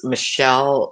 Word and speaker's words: Michal: It might be pronounced Michelle, but it's spelled Michal in this version of the Bible.